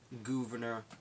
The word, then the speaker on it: Gouverneur: my personal favorite founders governor Morris now I believe it's pronounced governor I've heard a pronounced governor I've also heard a pownce govern or so I usually say governor cuz that's how I read it 15 years ago